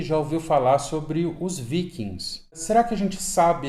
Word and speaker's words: viking: Então, o G é bem pronunciado, diferente do inglês, onde o G some. Em nórdico antigo você pronuncia viking, tá?